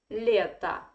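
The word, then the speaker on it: лето: or is in unstressed position it should be pronounced like a that's why we say letta and it is a noun so in english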